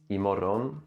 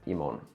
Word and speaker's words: imorgon: first we have "imorgon" (tomorrow") which often becomes "imorron" or "imorrn" For example, "see you tomorrow!"